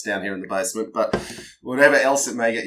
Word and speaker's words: bis: writing V yep and it's pronounced B like a Killer B yep so it's uh